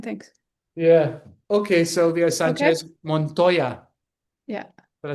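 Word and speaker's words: Sánchez Montoya: Sanchez Montoya.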